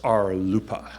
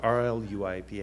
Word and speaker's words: RLUIPA: and Institutionalized Persons Act, which is pronounced RLUIPA, spelled R-L-U-I-P-A.